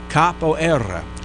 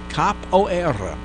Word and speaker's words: capoeira: that is the that's I'm saying that with the Portuguese roll at the end of it there just because that's what the people at the pronunciation place said to do anyway now you know